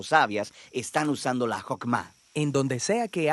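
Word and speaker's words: חכמה: hacemos Qué es esta fuerza en hebreo se pronuncia hokma y usualmente se traduce al español como sabiduría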